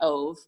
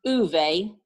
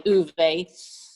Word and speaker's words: Ove: like to say it many people say ove i think it's pronounced oovey having married a norwegian they'd say uvei uvei lives in sweden